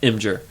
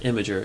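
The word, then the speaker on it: Imgur: she's like no it's it's pronounced imer there's only two syllables it's not imager it's imer I guess it's true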